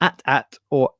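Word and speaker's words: AT-AT: Hood said at attin is a fun homage to how differently fans produce pronounce or at at like depending on which fan you are um I don't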